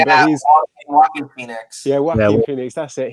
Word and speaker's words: Joaquin Phoenix: I know how to pronounce his name, but he's Joaquin Phoenix.